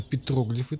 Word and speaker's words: петроглифы: Именно петроглифы так звучит это слово, такое ударение.